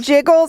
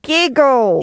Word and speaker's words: Giggles: be you okay wait did you call me Jiggles I thought my name was Giggles you know I pronounced G soft that was hurtful no